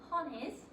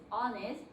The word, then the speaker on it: honest: pronunciation you see the age here it's not pronounced so don't get tricked by the age it's not han is it's honest that's something very special in english so honest